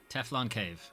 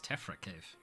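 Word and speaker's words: Tephra Cave: Alright, Teflon Cave. Oh wait, it's Tefra Cave.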